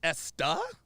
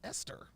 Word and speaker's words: Esther: it the stuff oh it's pronounced esta I thought it was Esther said damn are they